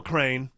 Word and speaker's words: Crane: your mouth all right crane uh rhymes with Kurt Cobain it does however you